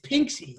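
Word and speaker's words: pinxy: we have a lot of flux from the pronunciation is pinksy i'm going to type it pin a is a term for a filipina right and then pink say emerge p i n x y as a gender neutral variant heather do you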